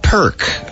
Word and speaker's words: Pirq: to buy anyway right the app is called perk it's like if you're getting a perk only it's spelled p i RQ probably so they could